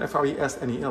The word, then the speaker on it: Fresnel: Augustin Jean, Augustin or Jean Jean Frenon, pronounced is Fresnel, F-R-E-S-N-E-L, but it's pronounced Fresnel, was born in France in 1788.